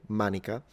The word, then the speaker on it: manica: What is cool about the Latin word manica is that we still have the exact same word in modern Italian, pronounced exactly the same way, manica, and it just means sleeve.